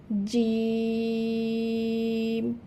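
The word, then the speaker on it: جيم: জিম। তাহলে প্রথমে এই হরফের নাম জানলাম, এবার জানবো এই হরফের মাখরাজ অর্থাৎ উচ্চারণের স্থান। জিহবার মধ্যখান হইতে তার বরাবর উপরে তালুর সাথে লাগাইয়া জিম উচ্চারিত হবে। জিম।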